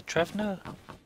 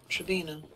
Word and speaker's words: Trevno: Yeah, it's up here near Trevno. Trevina. There's no I in it. No, there's a V, so you want to say pronounce it with V.